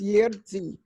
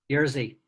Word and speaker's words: Jerzy: He goes Jerzy or whatever. How do you say it? Jerzy. Jerzy. It's Jerzy. Jerzy. RZ is Z. So it's Jerzy.